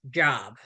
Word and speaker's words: Job: So after Carla leaves the room, Coach tells Cliff that the word is pronounced job.